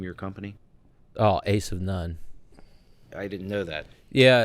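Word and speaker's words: Asivnon: that's how it's pronounced as in Jack of all trades Ace of none a of none I spelled it a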